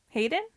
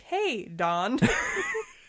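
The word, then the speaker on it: Heydon: say his first name Hayden Hayden Hayden Prowse its belt it isn't spelled like Hayden that I've seen but now that I see it it's like hey dawn hey Don proud yeah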